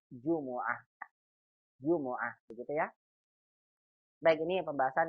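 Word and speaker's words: جمعة: jumaah jumlah bangsa kita Jumat hari Jumat dalam bahasa Arab dibaca dengan Jumuah woah gitu ya begini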